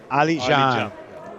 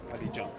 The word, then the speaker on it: Ali Can: Ali Can. Oh, the C is pronounced as a J? Yeah. Ali Can.